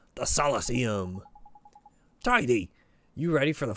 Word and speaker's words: Solosseum: It's pronounced Solosseum.